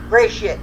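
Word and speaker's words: Gresit: And it was cool, like how the angry mob of how you pronounce that town name again? Gilshit. Angry mob. No, the town that they was in. Gray shit.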